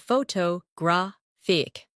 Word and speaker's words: photographic: In English, some words are pronounced with extra emphasis on one part. For example, photograph, photographer, and photographic. The stress moves and that changes the sound.